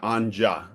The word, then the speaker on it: Anya: She She pronounces it Anja.